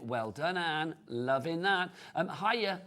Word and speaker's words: Hiya: Hiya, I think that's how you say it. Hiya, H-Y-A, hiya.